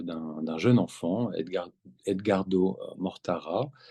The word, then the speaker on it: Edgardo Mortara: d'un jeune enfant Edgar Edgardo Mortara je le prononce à la française euh un jeune enfant